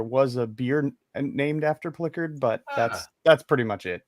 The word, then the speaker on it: Plikerd: So let's bring on and he'll get you straightened out, Ken, on how you pronounce his name. Hi. Yep. Hi. Hi. Good evening, everybody. And it's Plikerd.